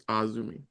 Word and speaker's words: AZM: So next up we have for the IWGP Women's Championship, Mayu Iwatani defending against, I think you pronounce it AZM or at. Actually, no, It's Azumi. Azumi.